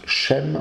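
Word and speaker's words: שֵׁם: Sem qui se prononce chem en hébreu signifie nom.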